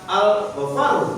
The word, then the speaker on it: Al-Ghaffar: Dalam pelafalannya huruf fa dibaca panjang. Jangan sampai kita keliru membaca Al-Ghaffar, nggak boleh. Karena dalam tulisan dan pelafalannya harus sesuai dengan kaidah. Bahwasanya huruf fa-nya panjang.